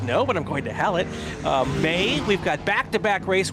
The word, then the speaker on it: Hallett: April is going to be busy with the race at Virginia International Raceway and Hallett, or as my kid likes to call it, Halle Motor Racing Circuit.